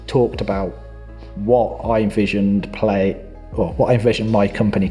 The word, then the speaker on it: Plaey: furniture and I just and play was spelled with a p-l-a-e-y which definitely confuses most delivery drivers but other than that's